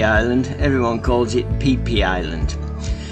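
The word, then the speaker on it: Phi Phi: is peepe Island and it's not pronounced how it's spelled Fifi Island everyone calls it peepe Island it's situated in the anderman sea midway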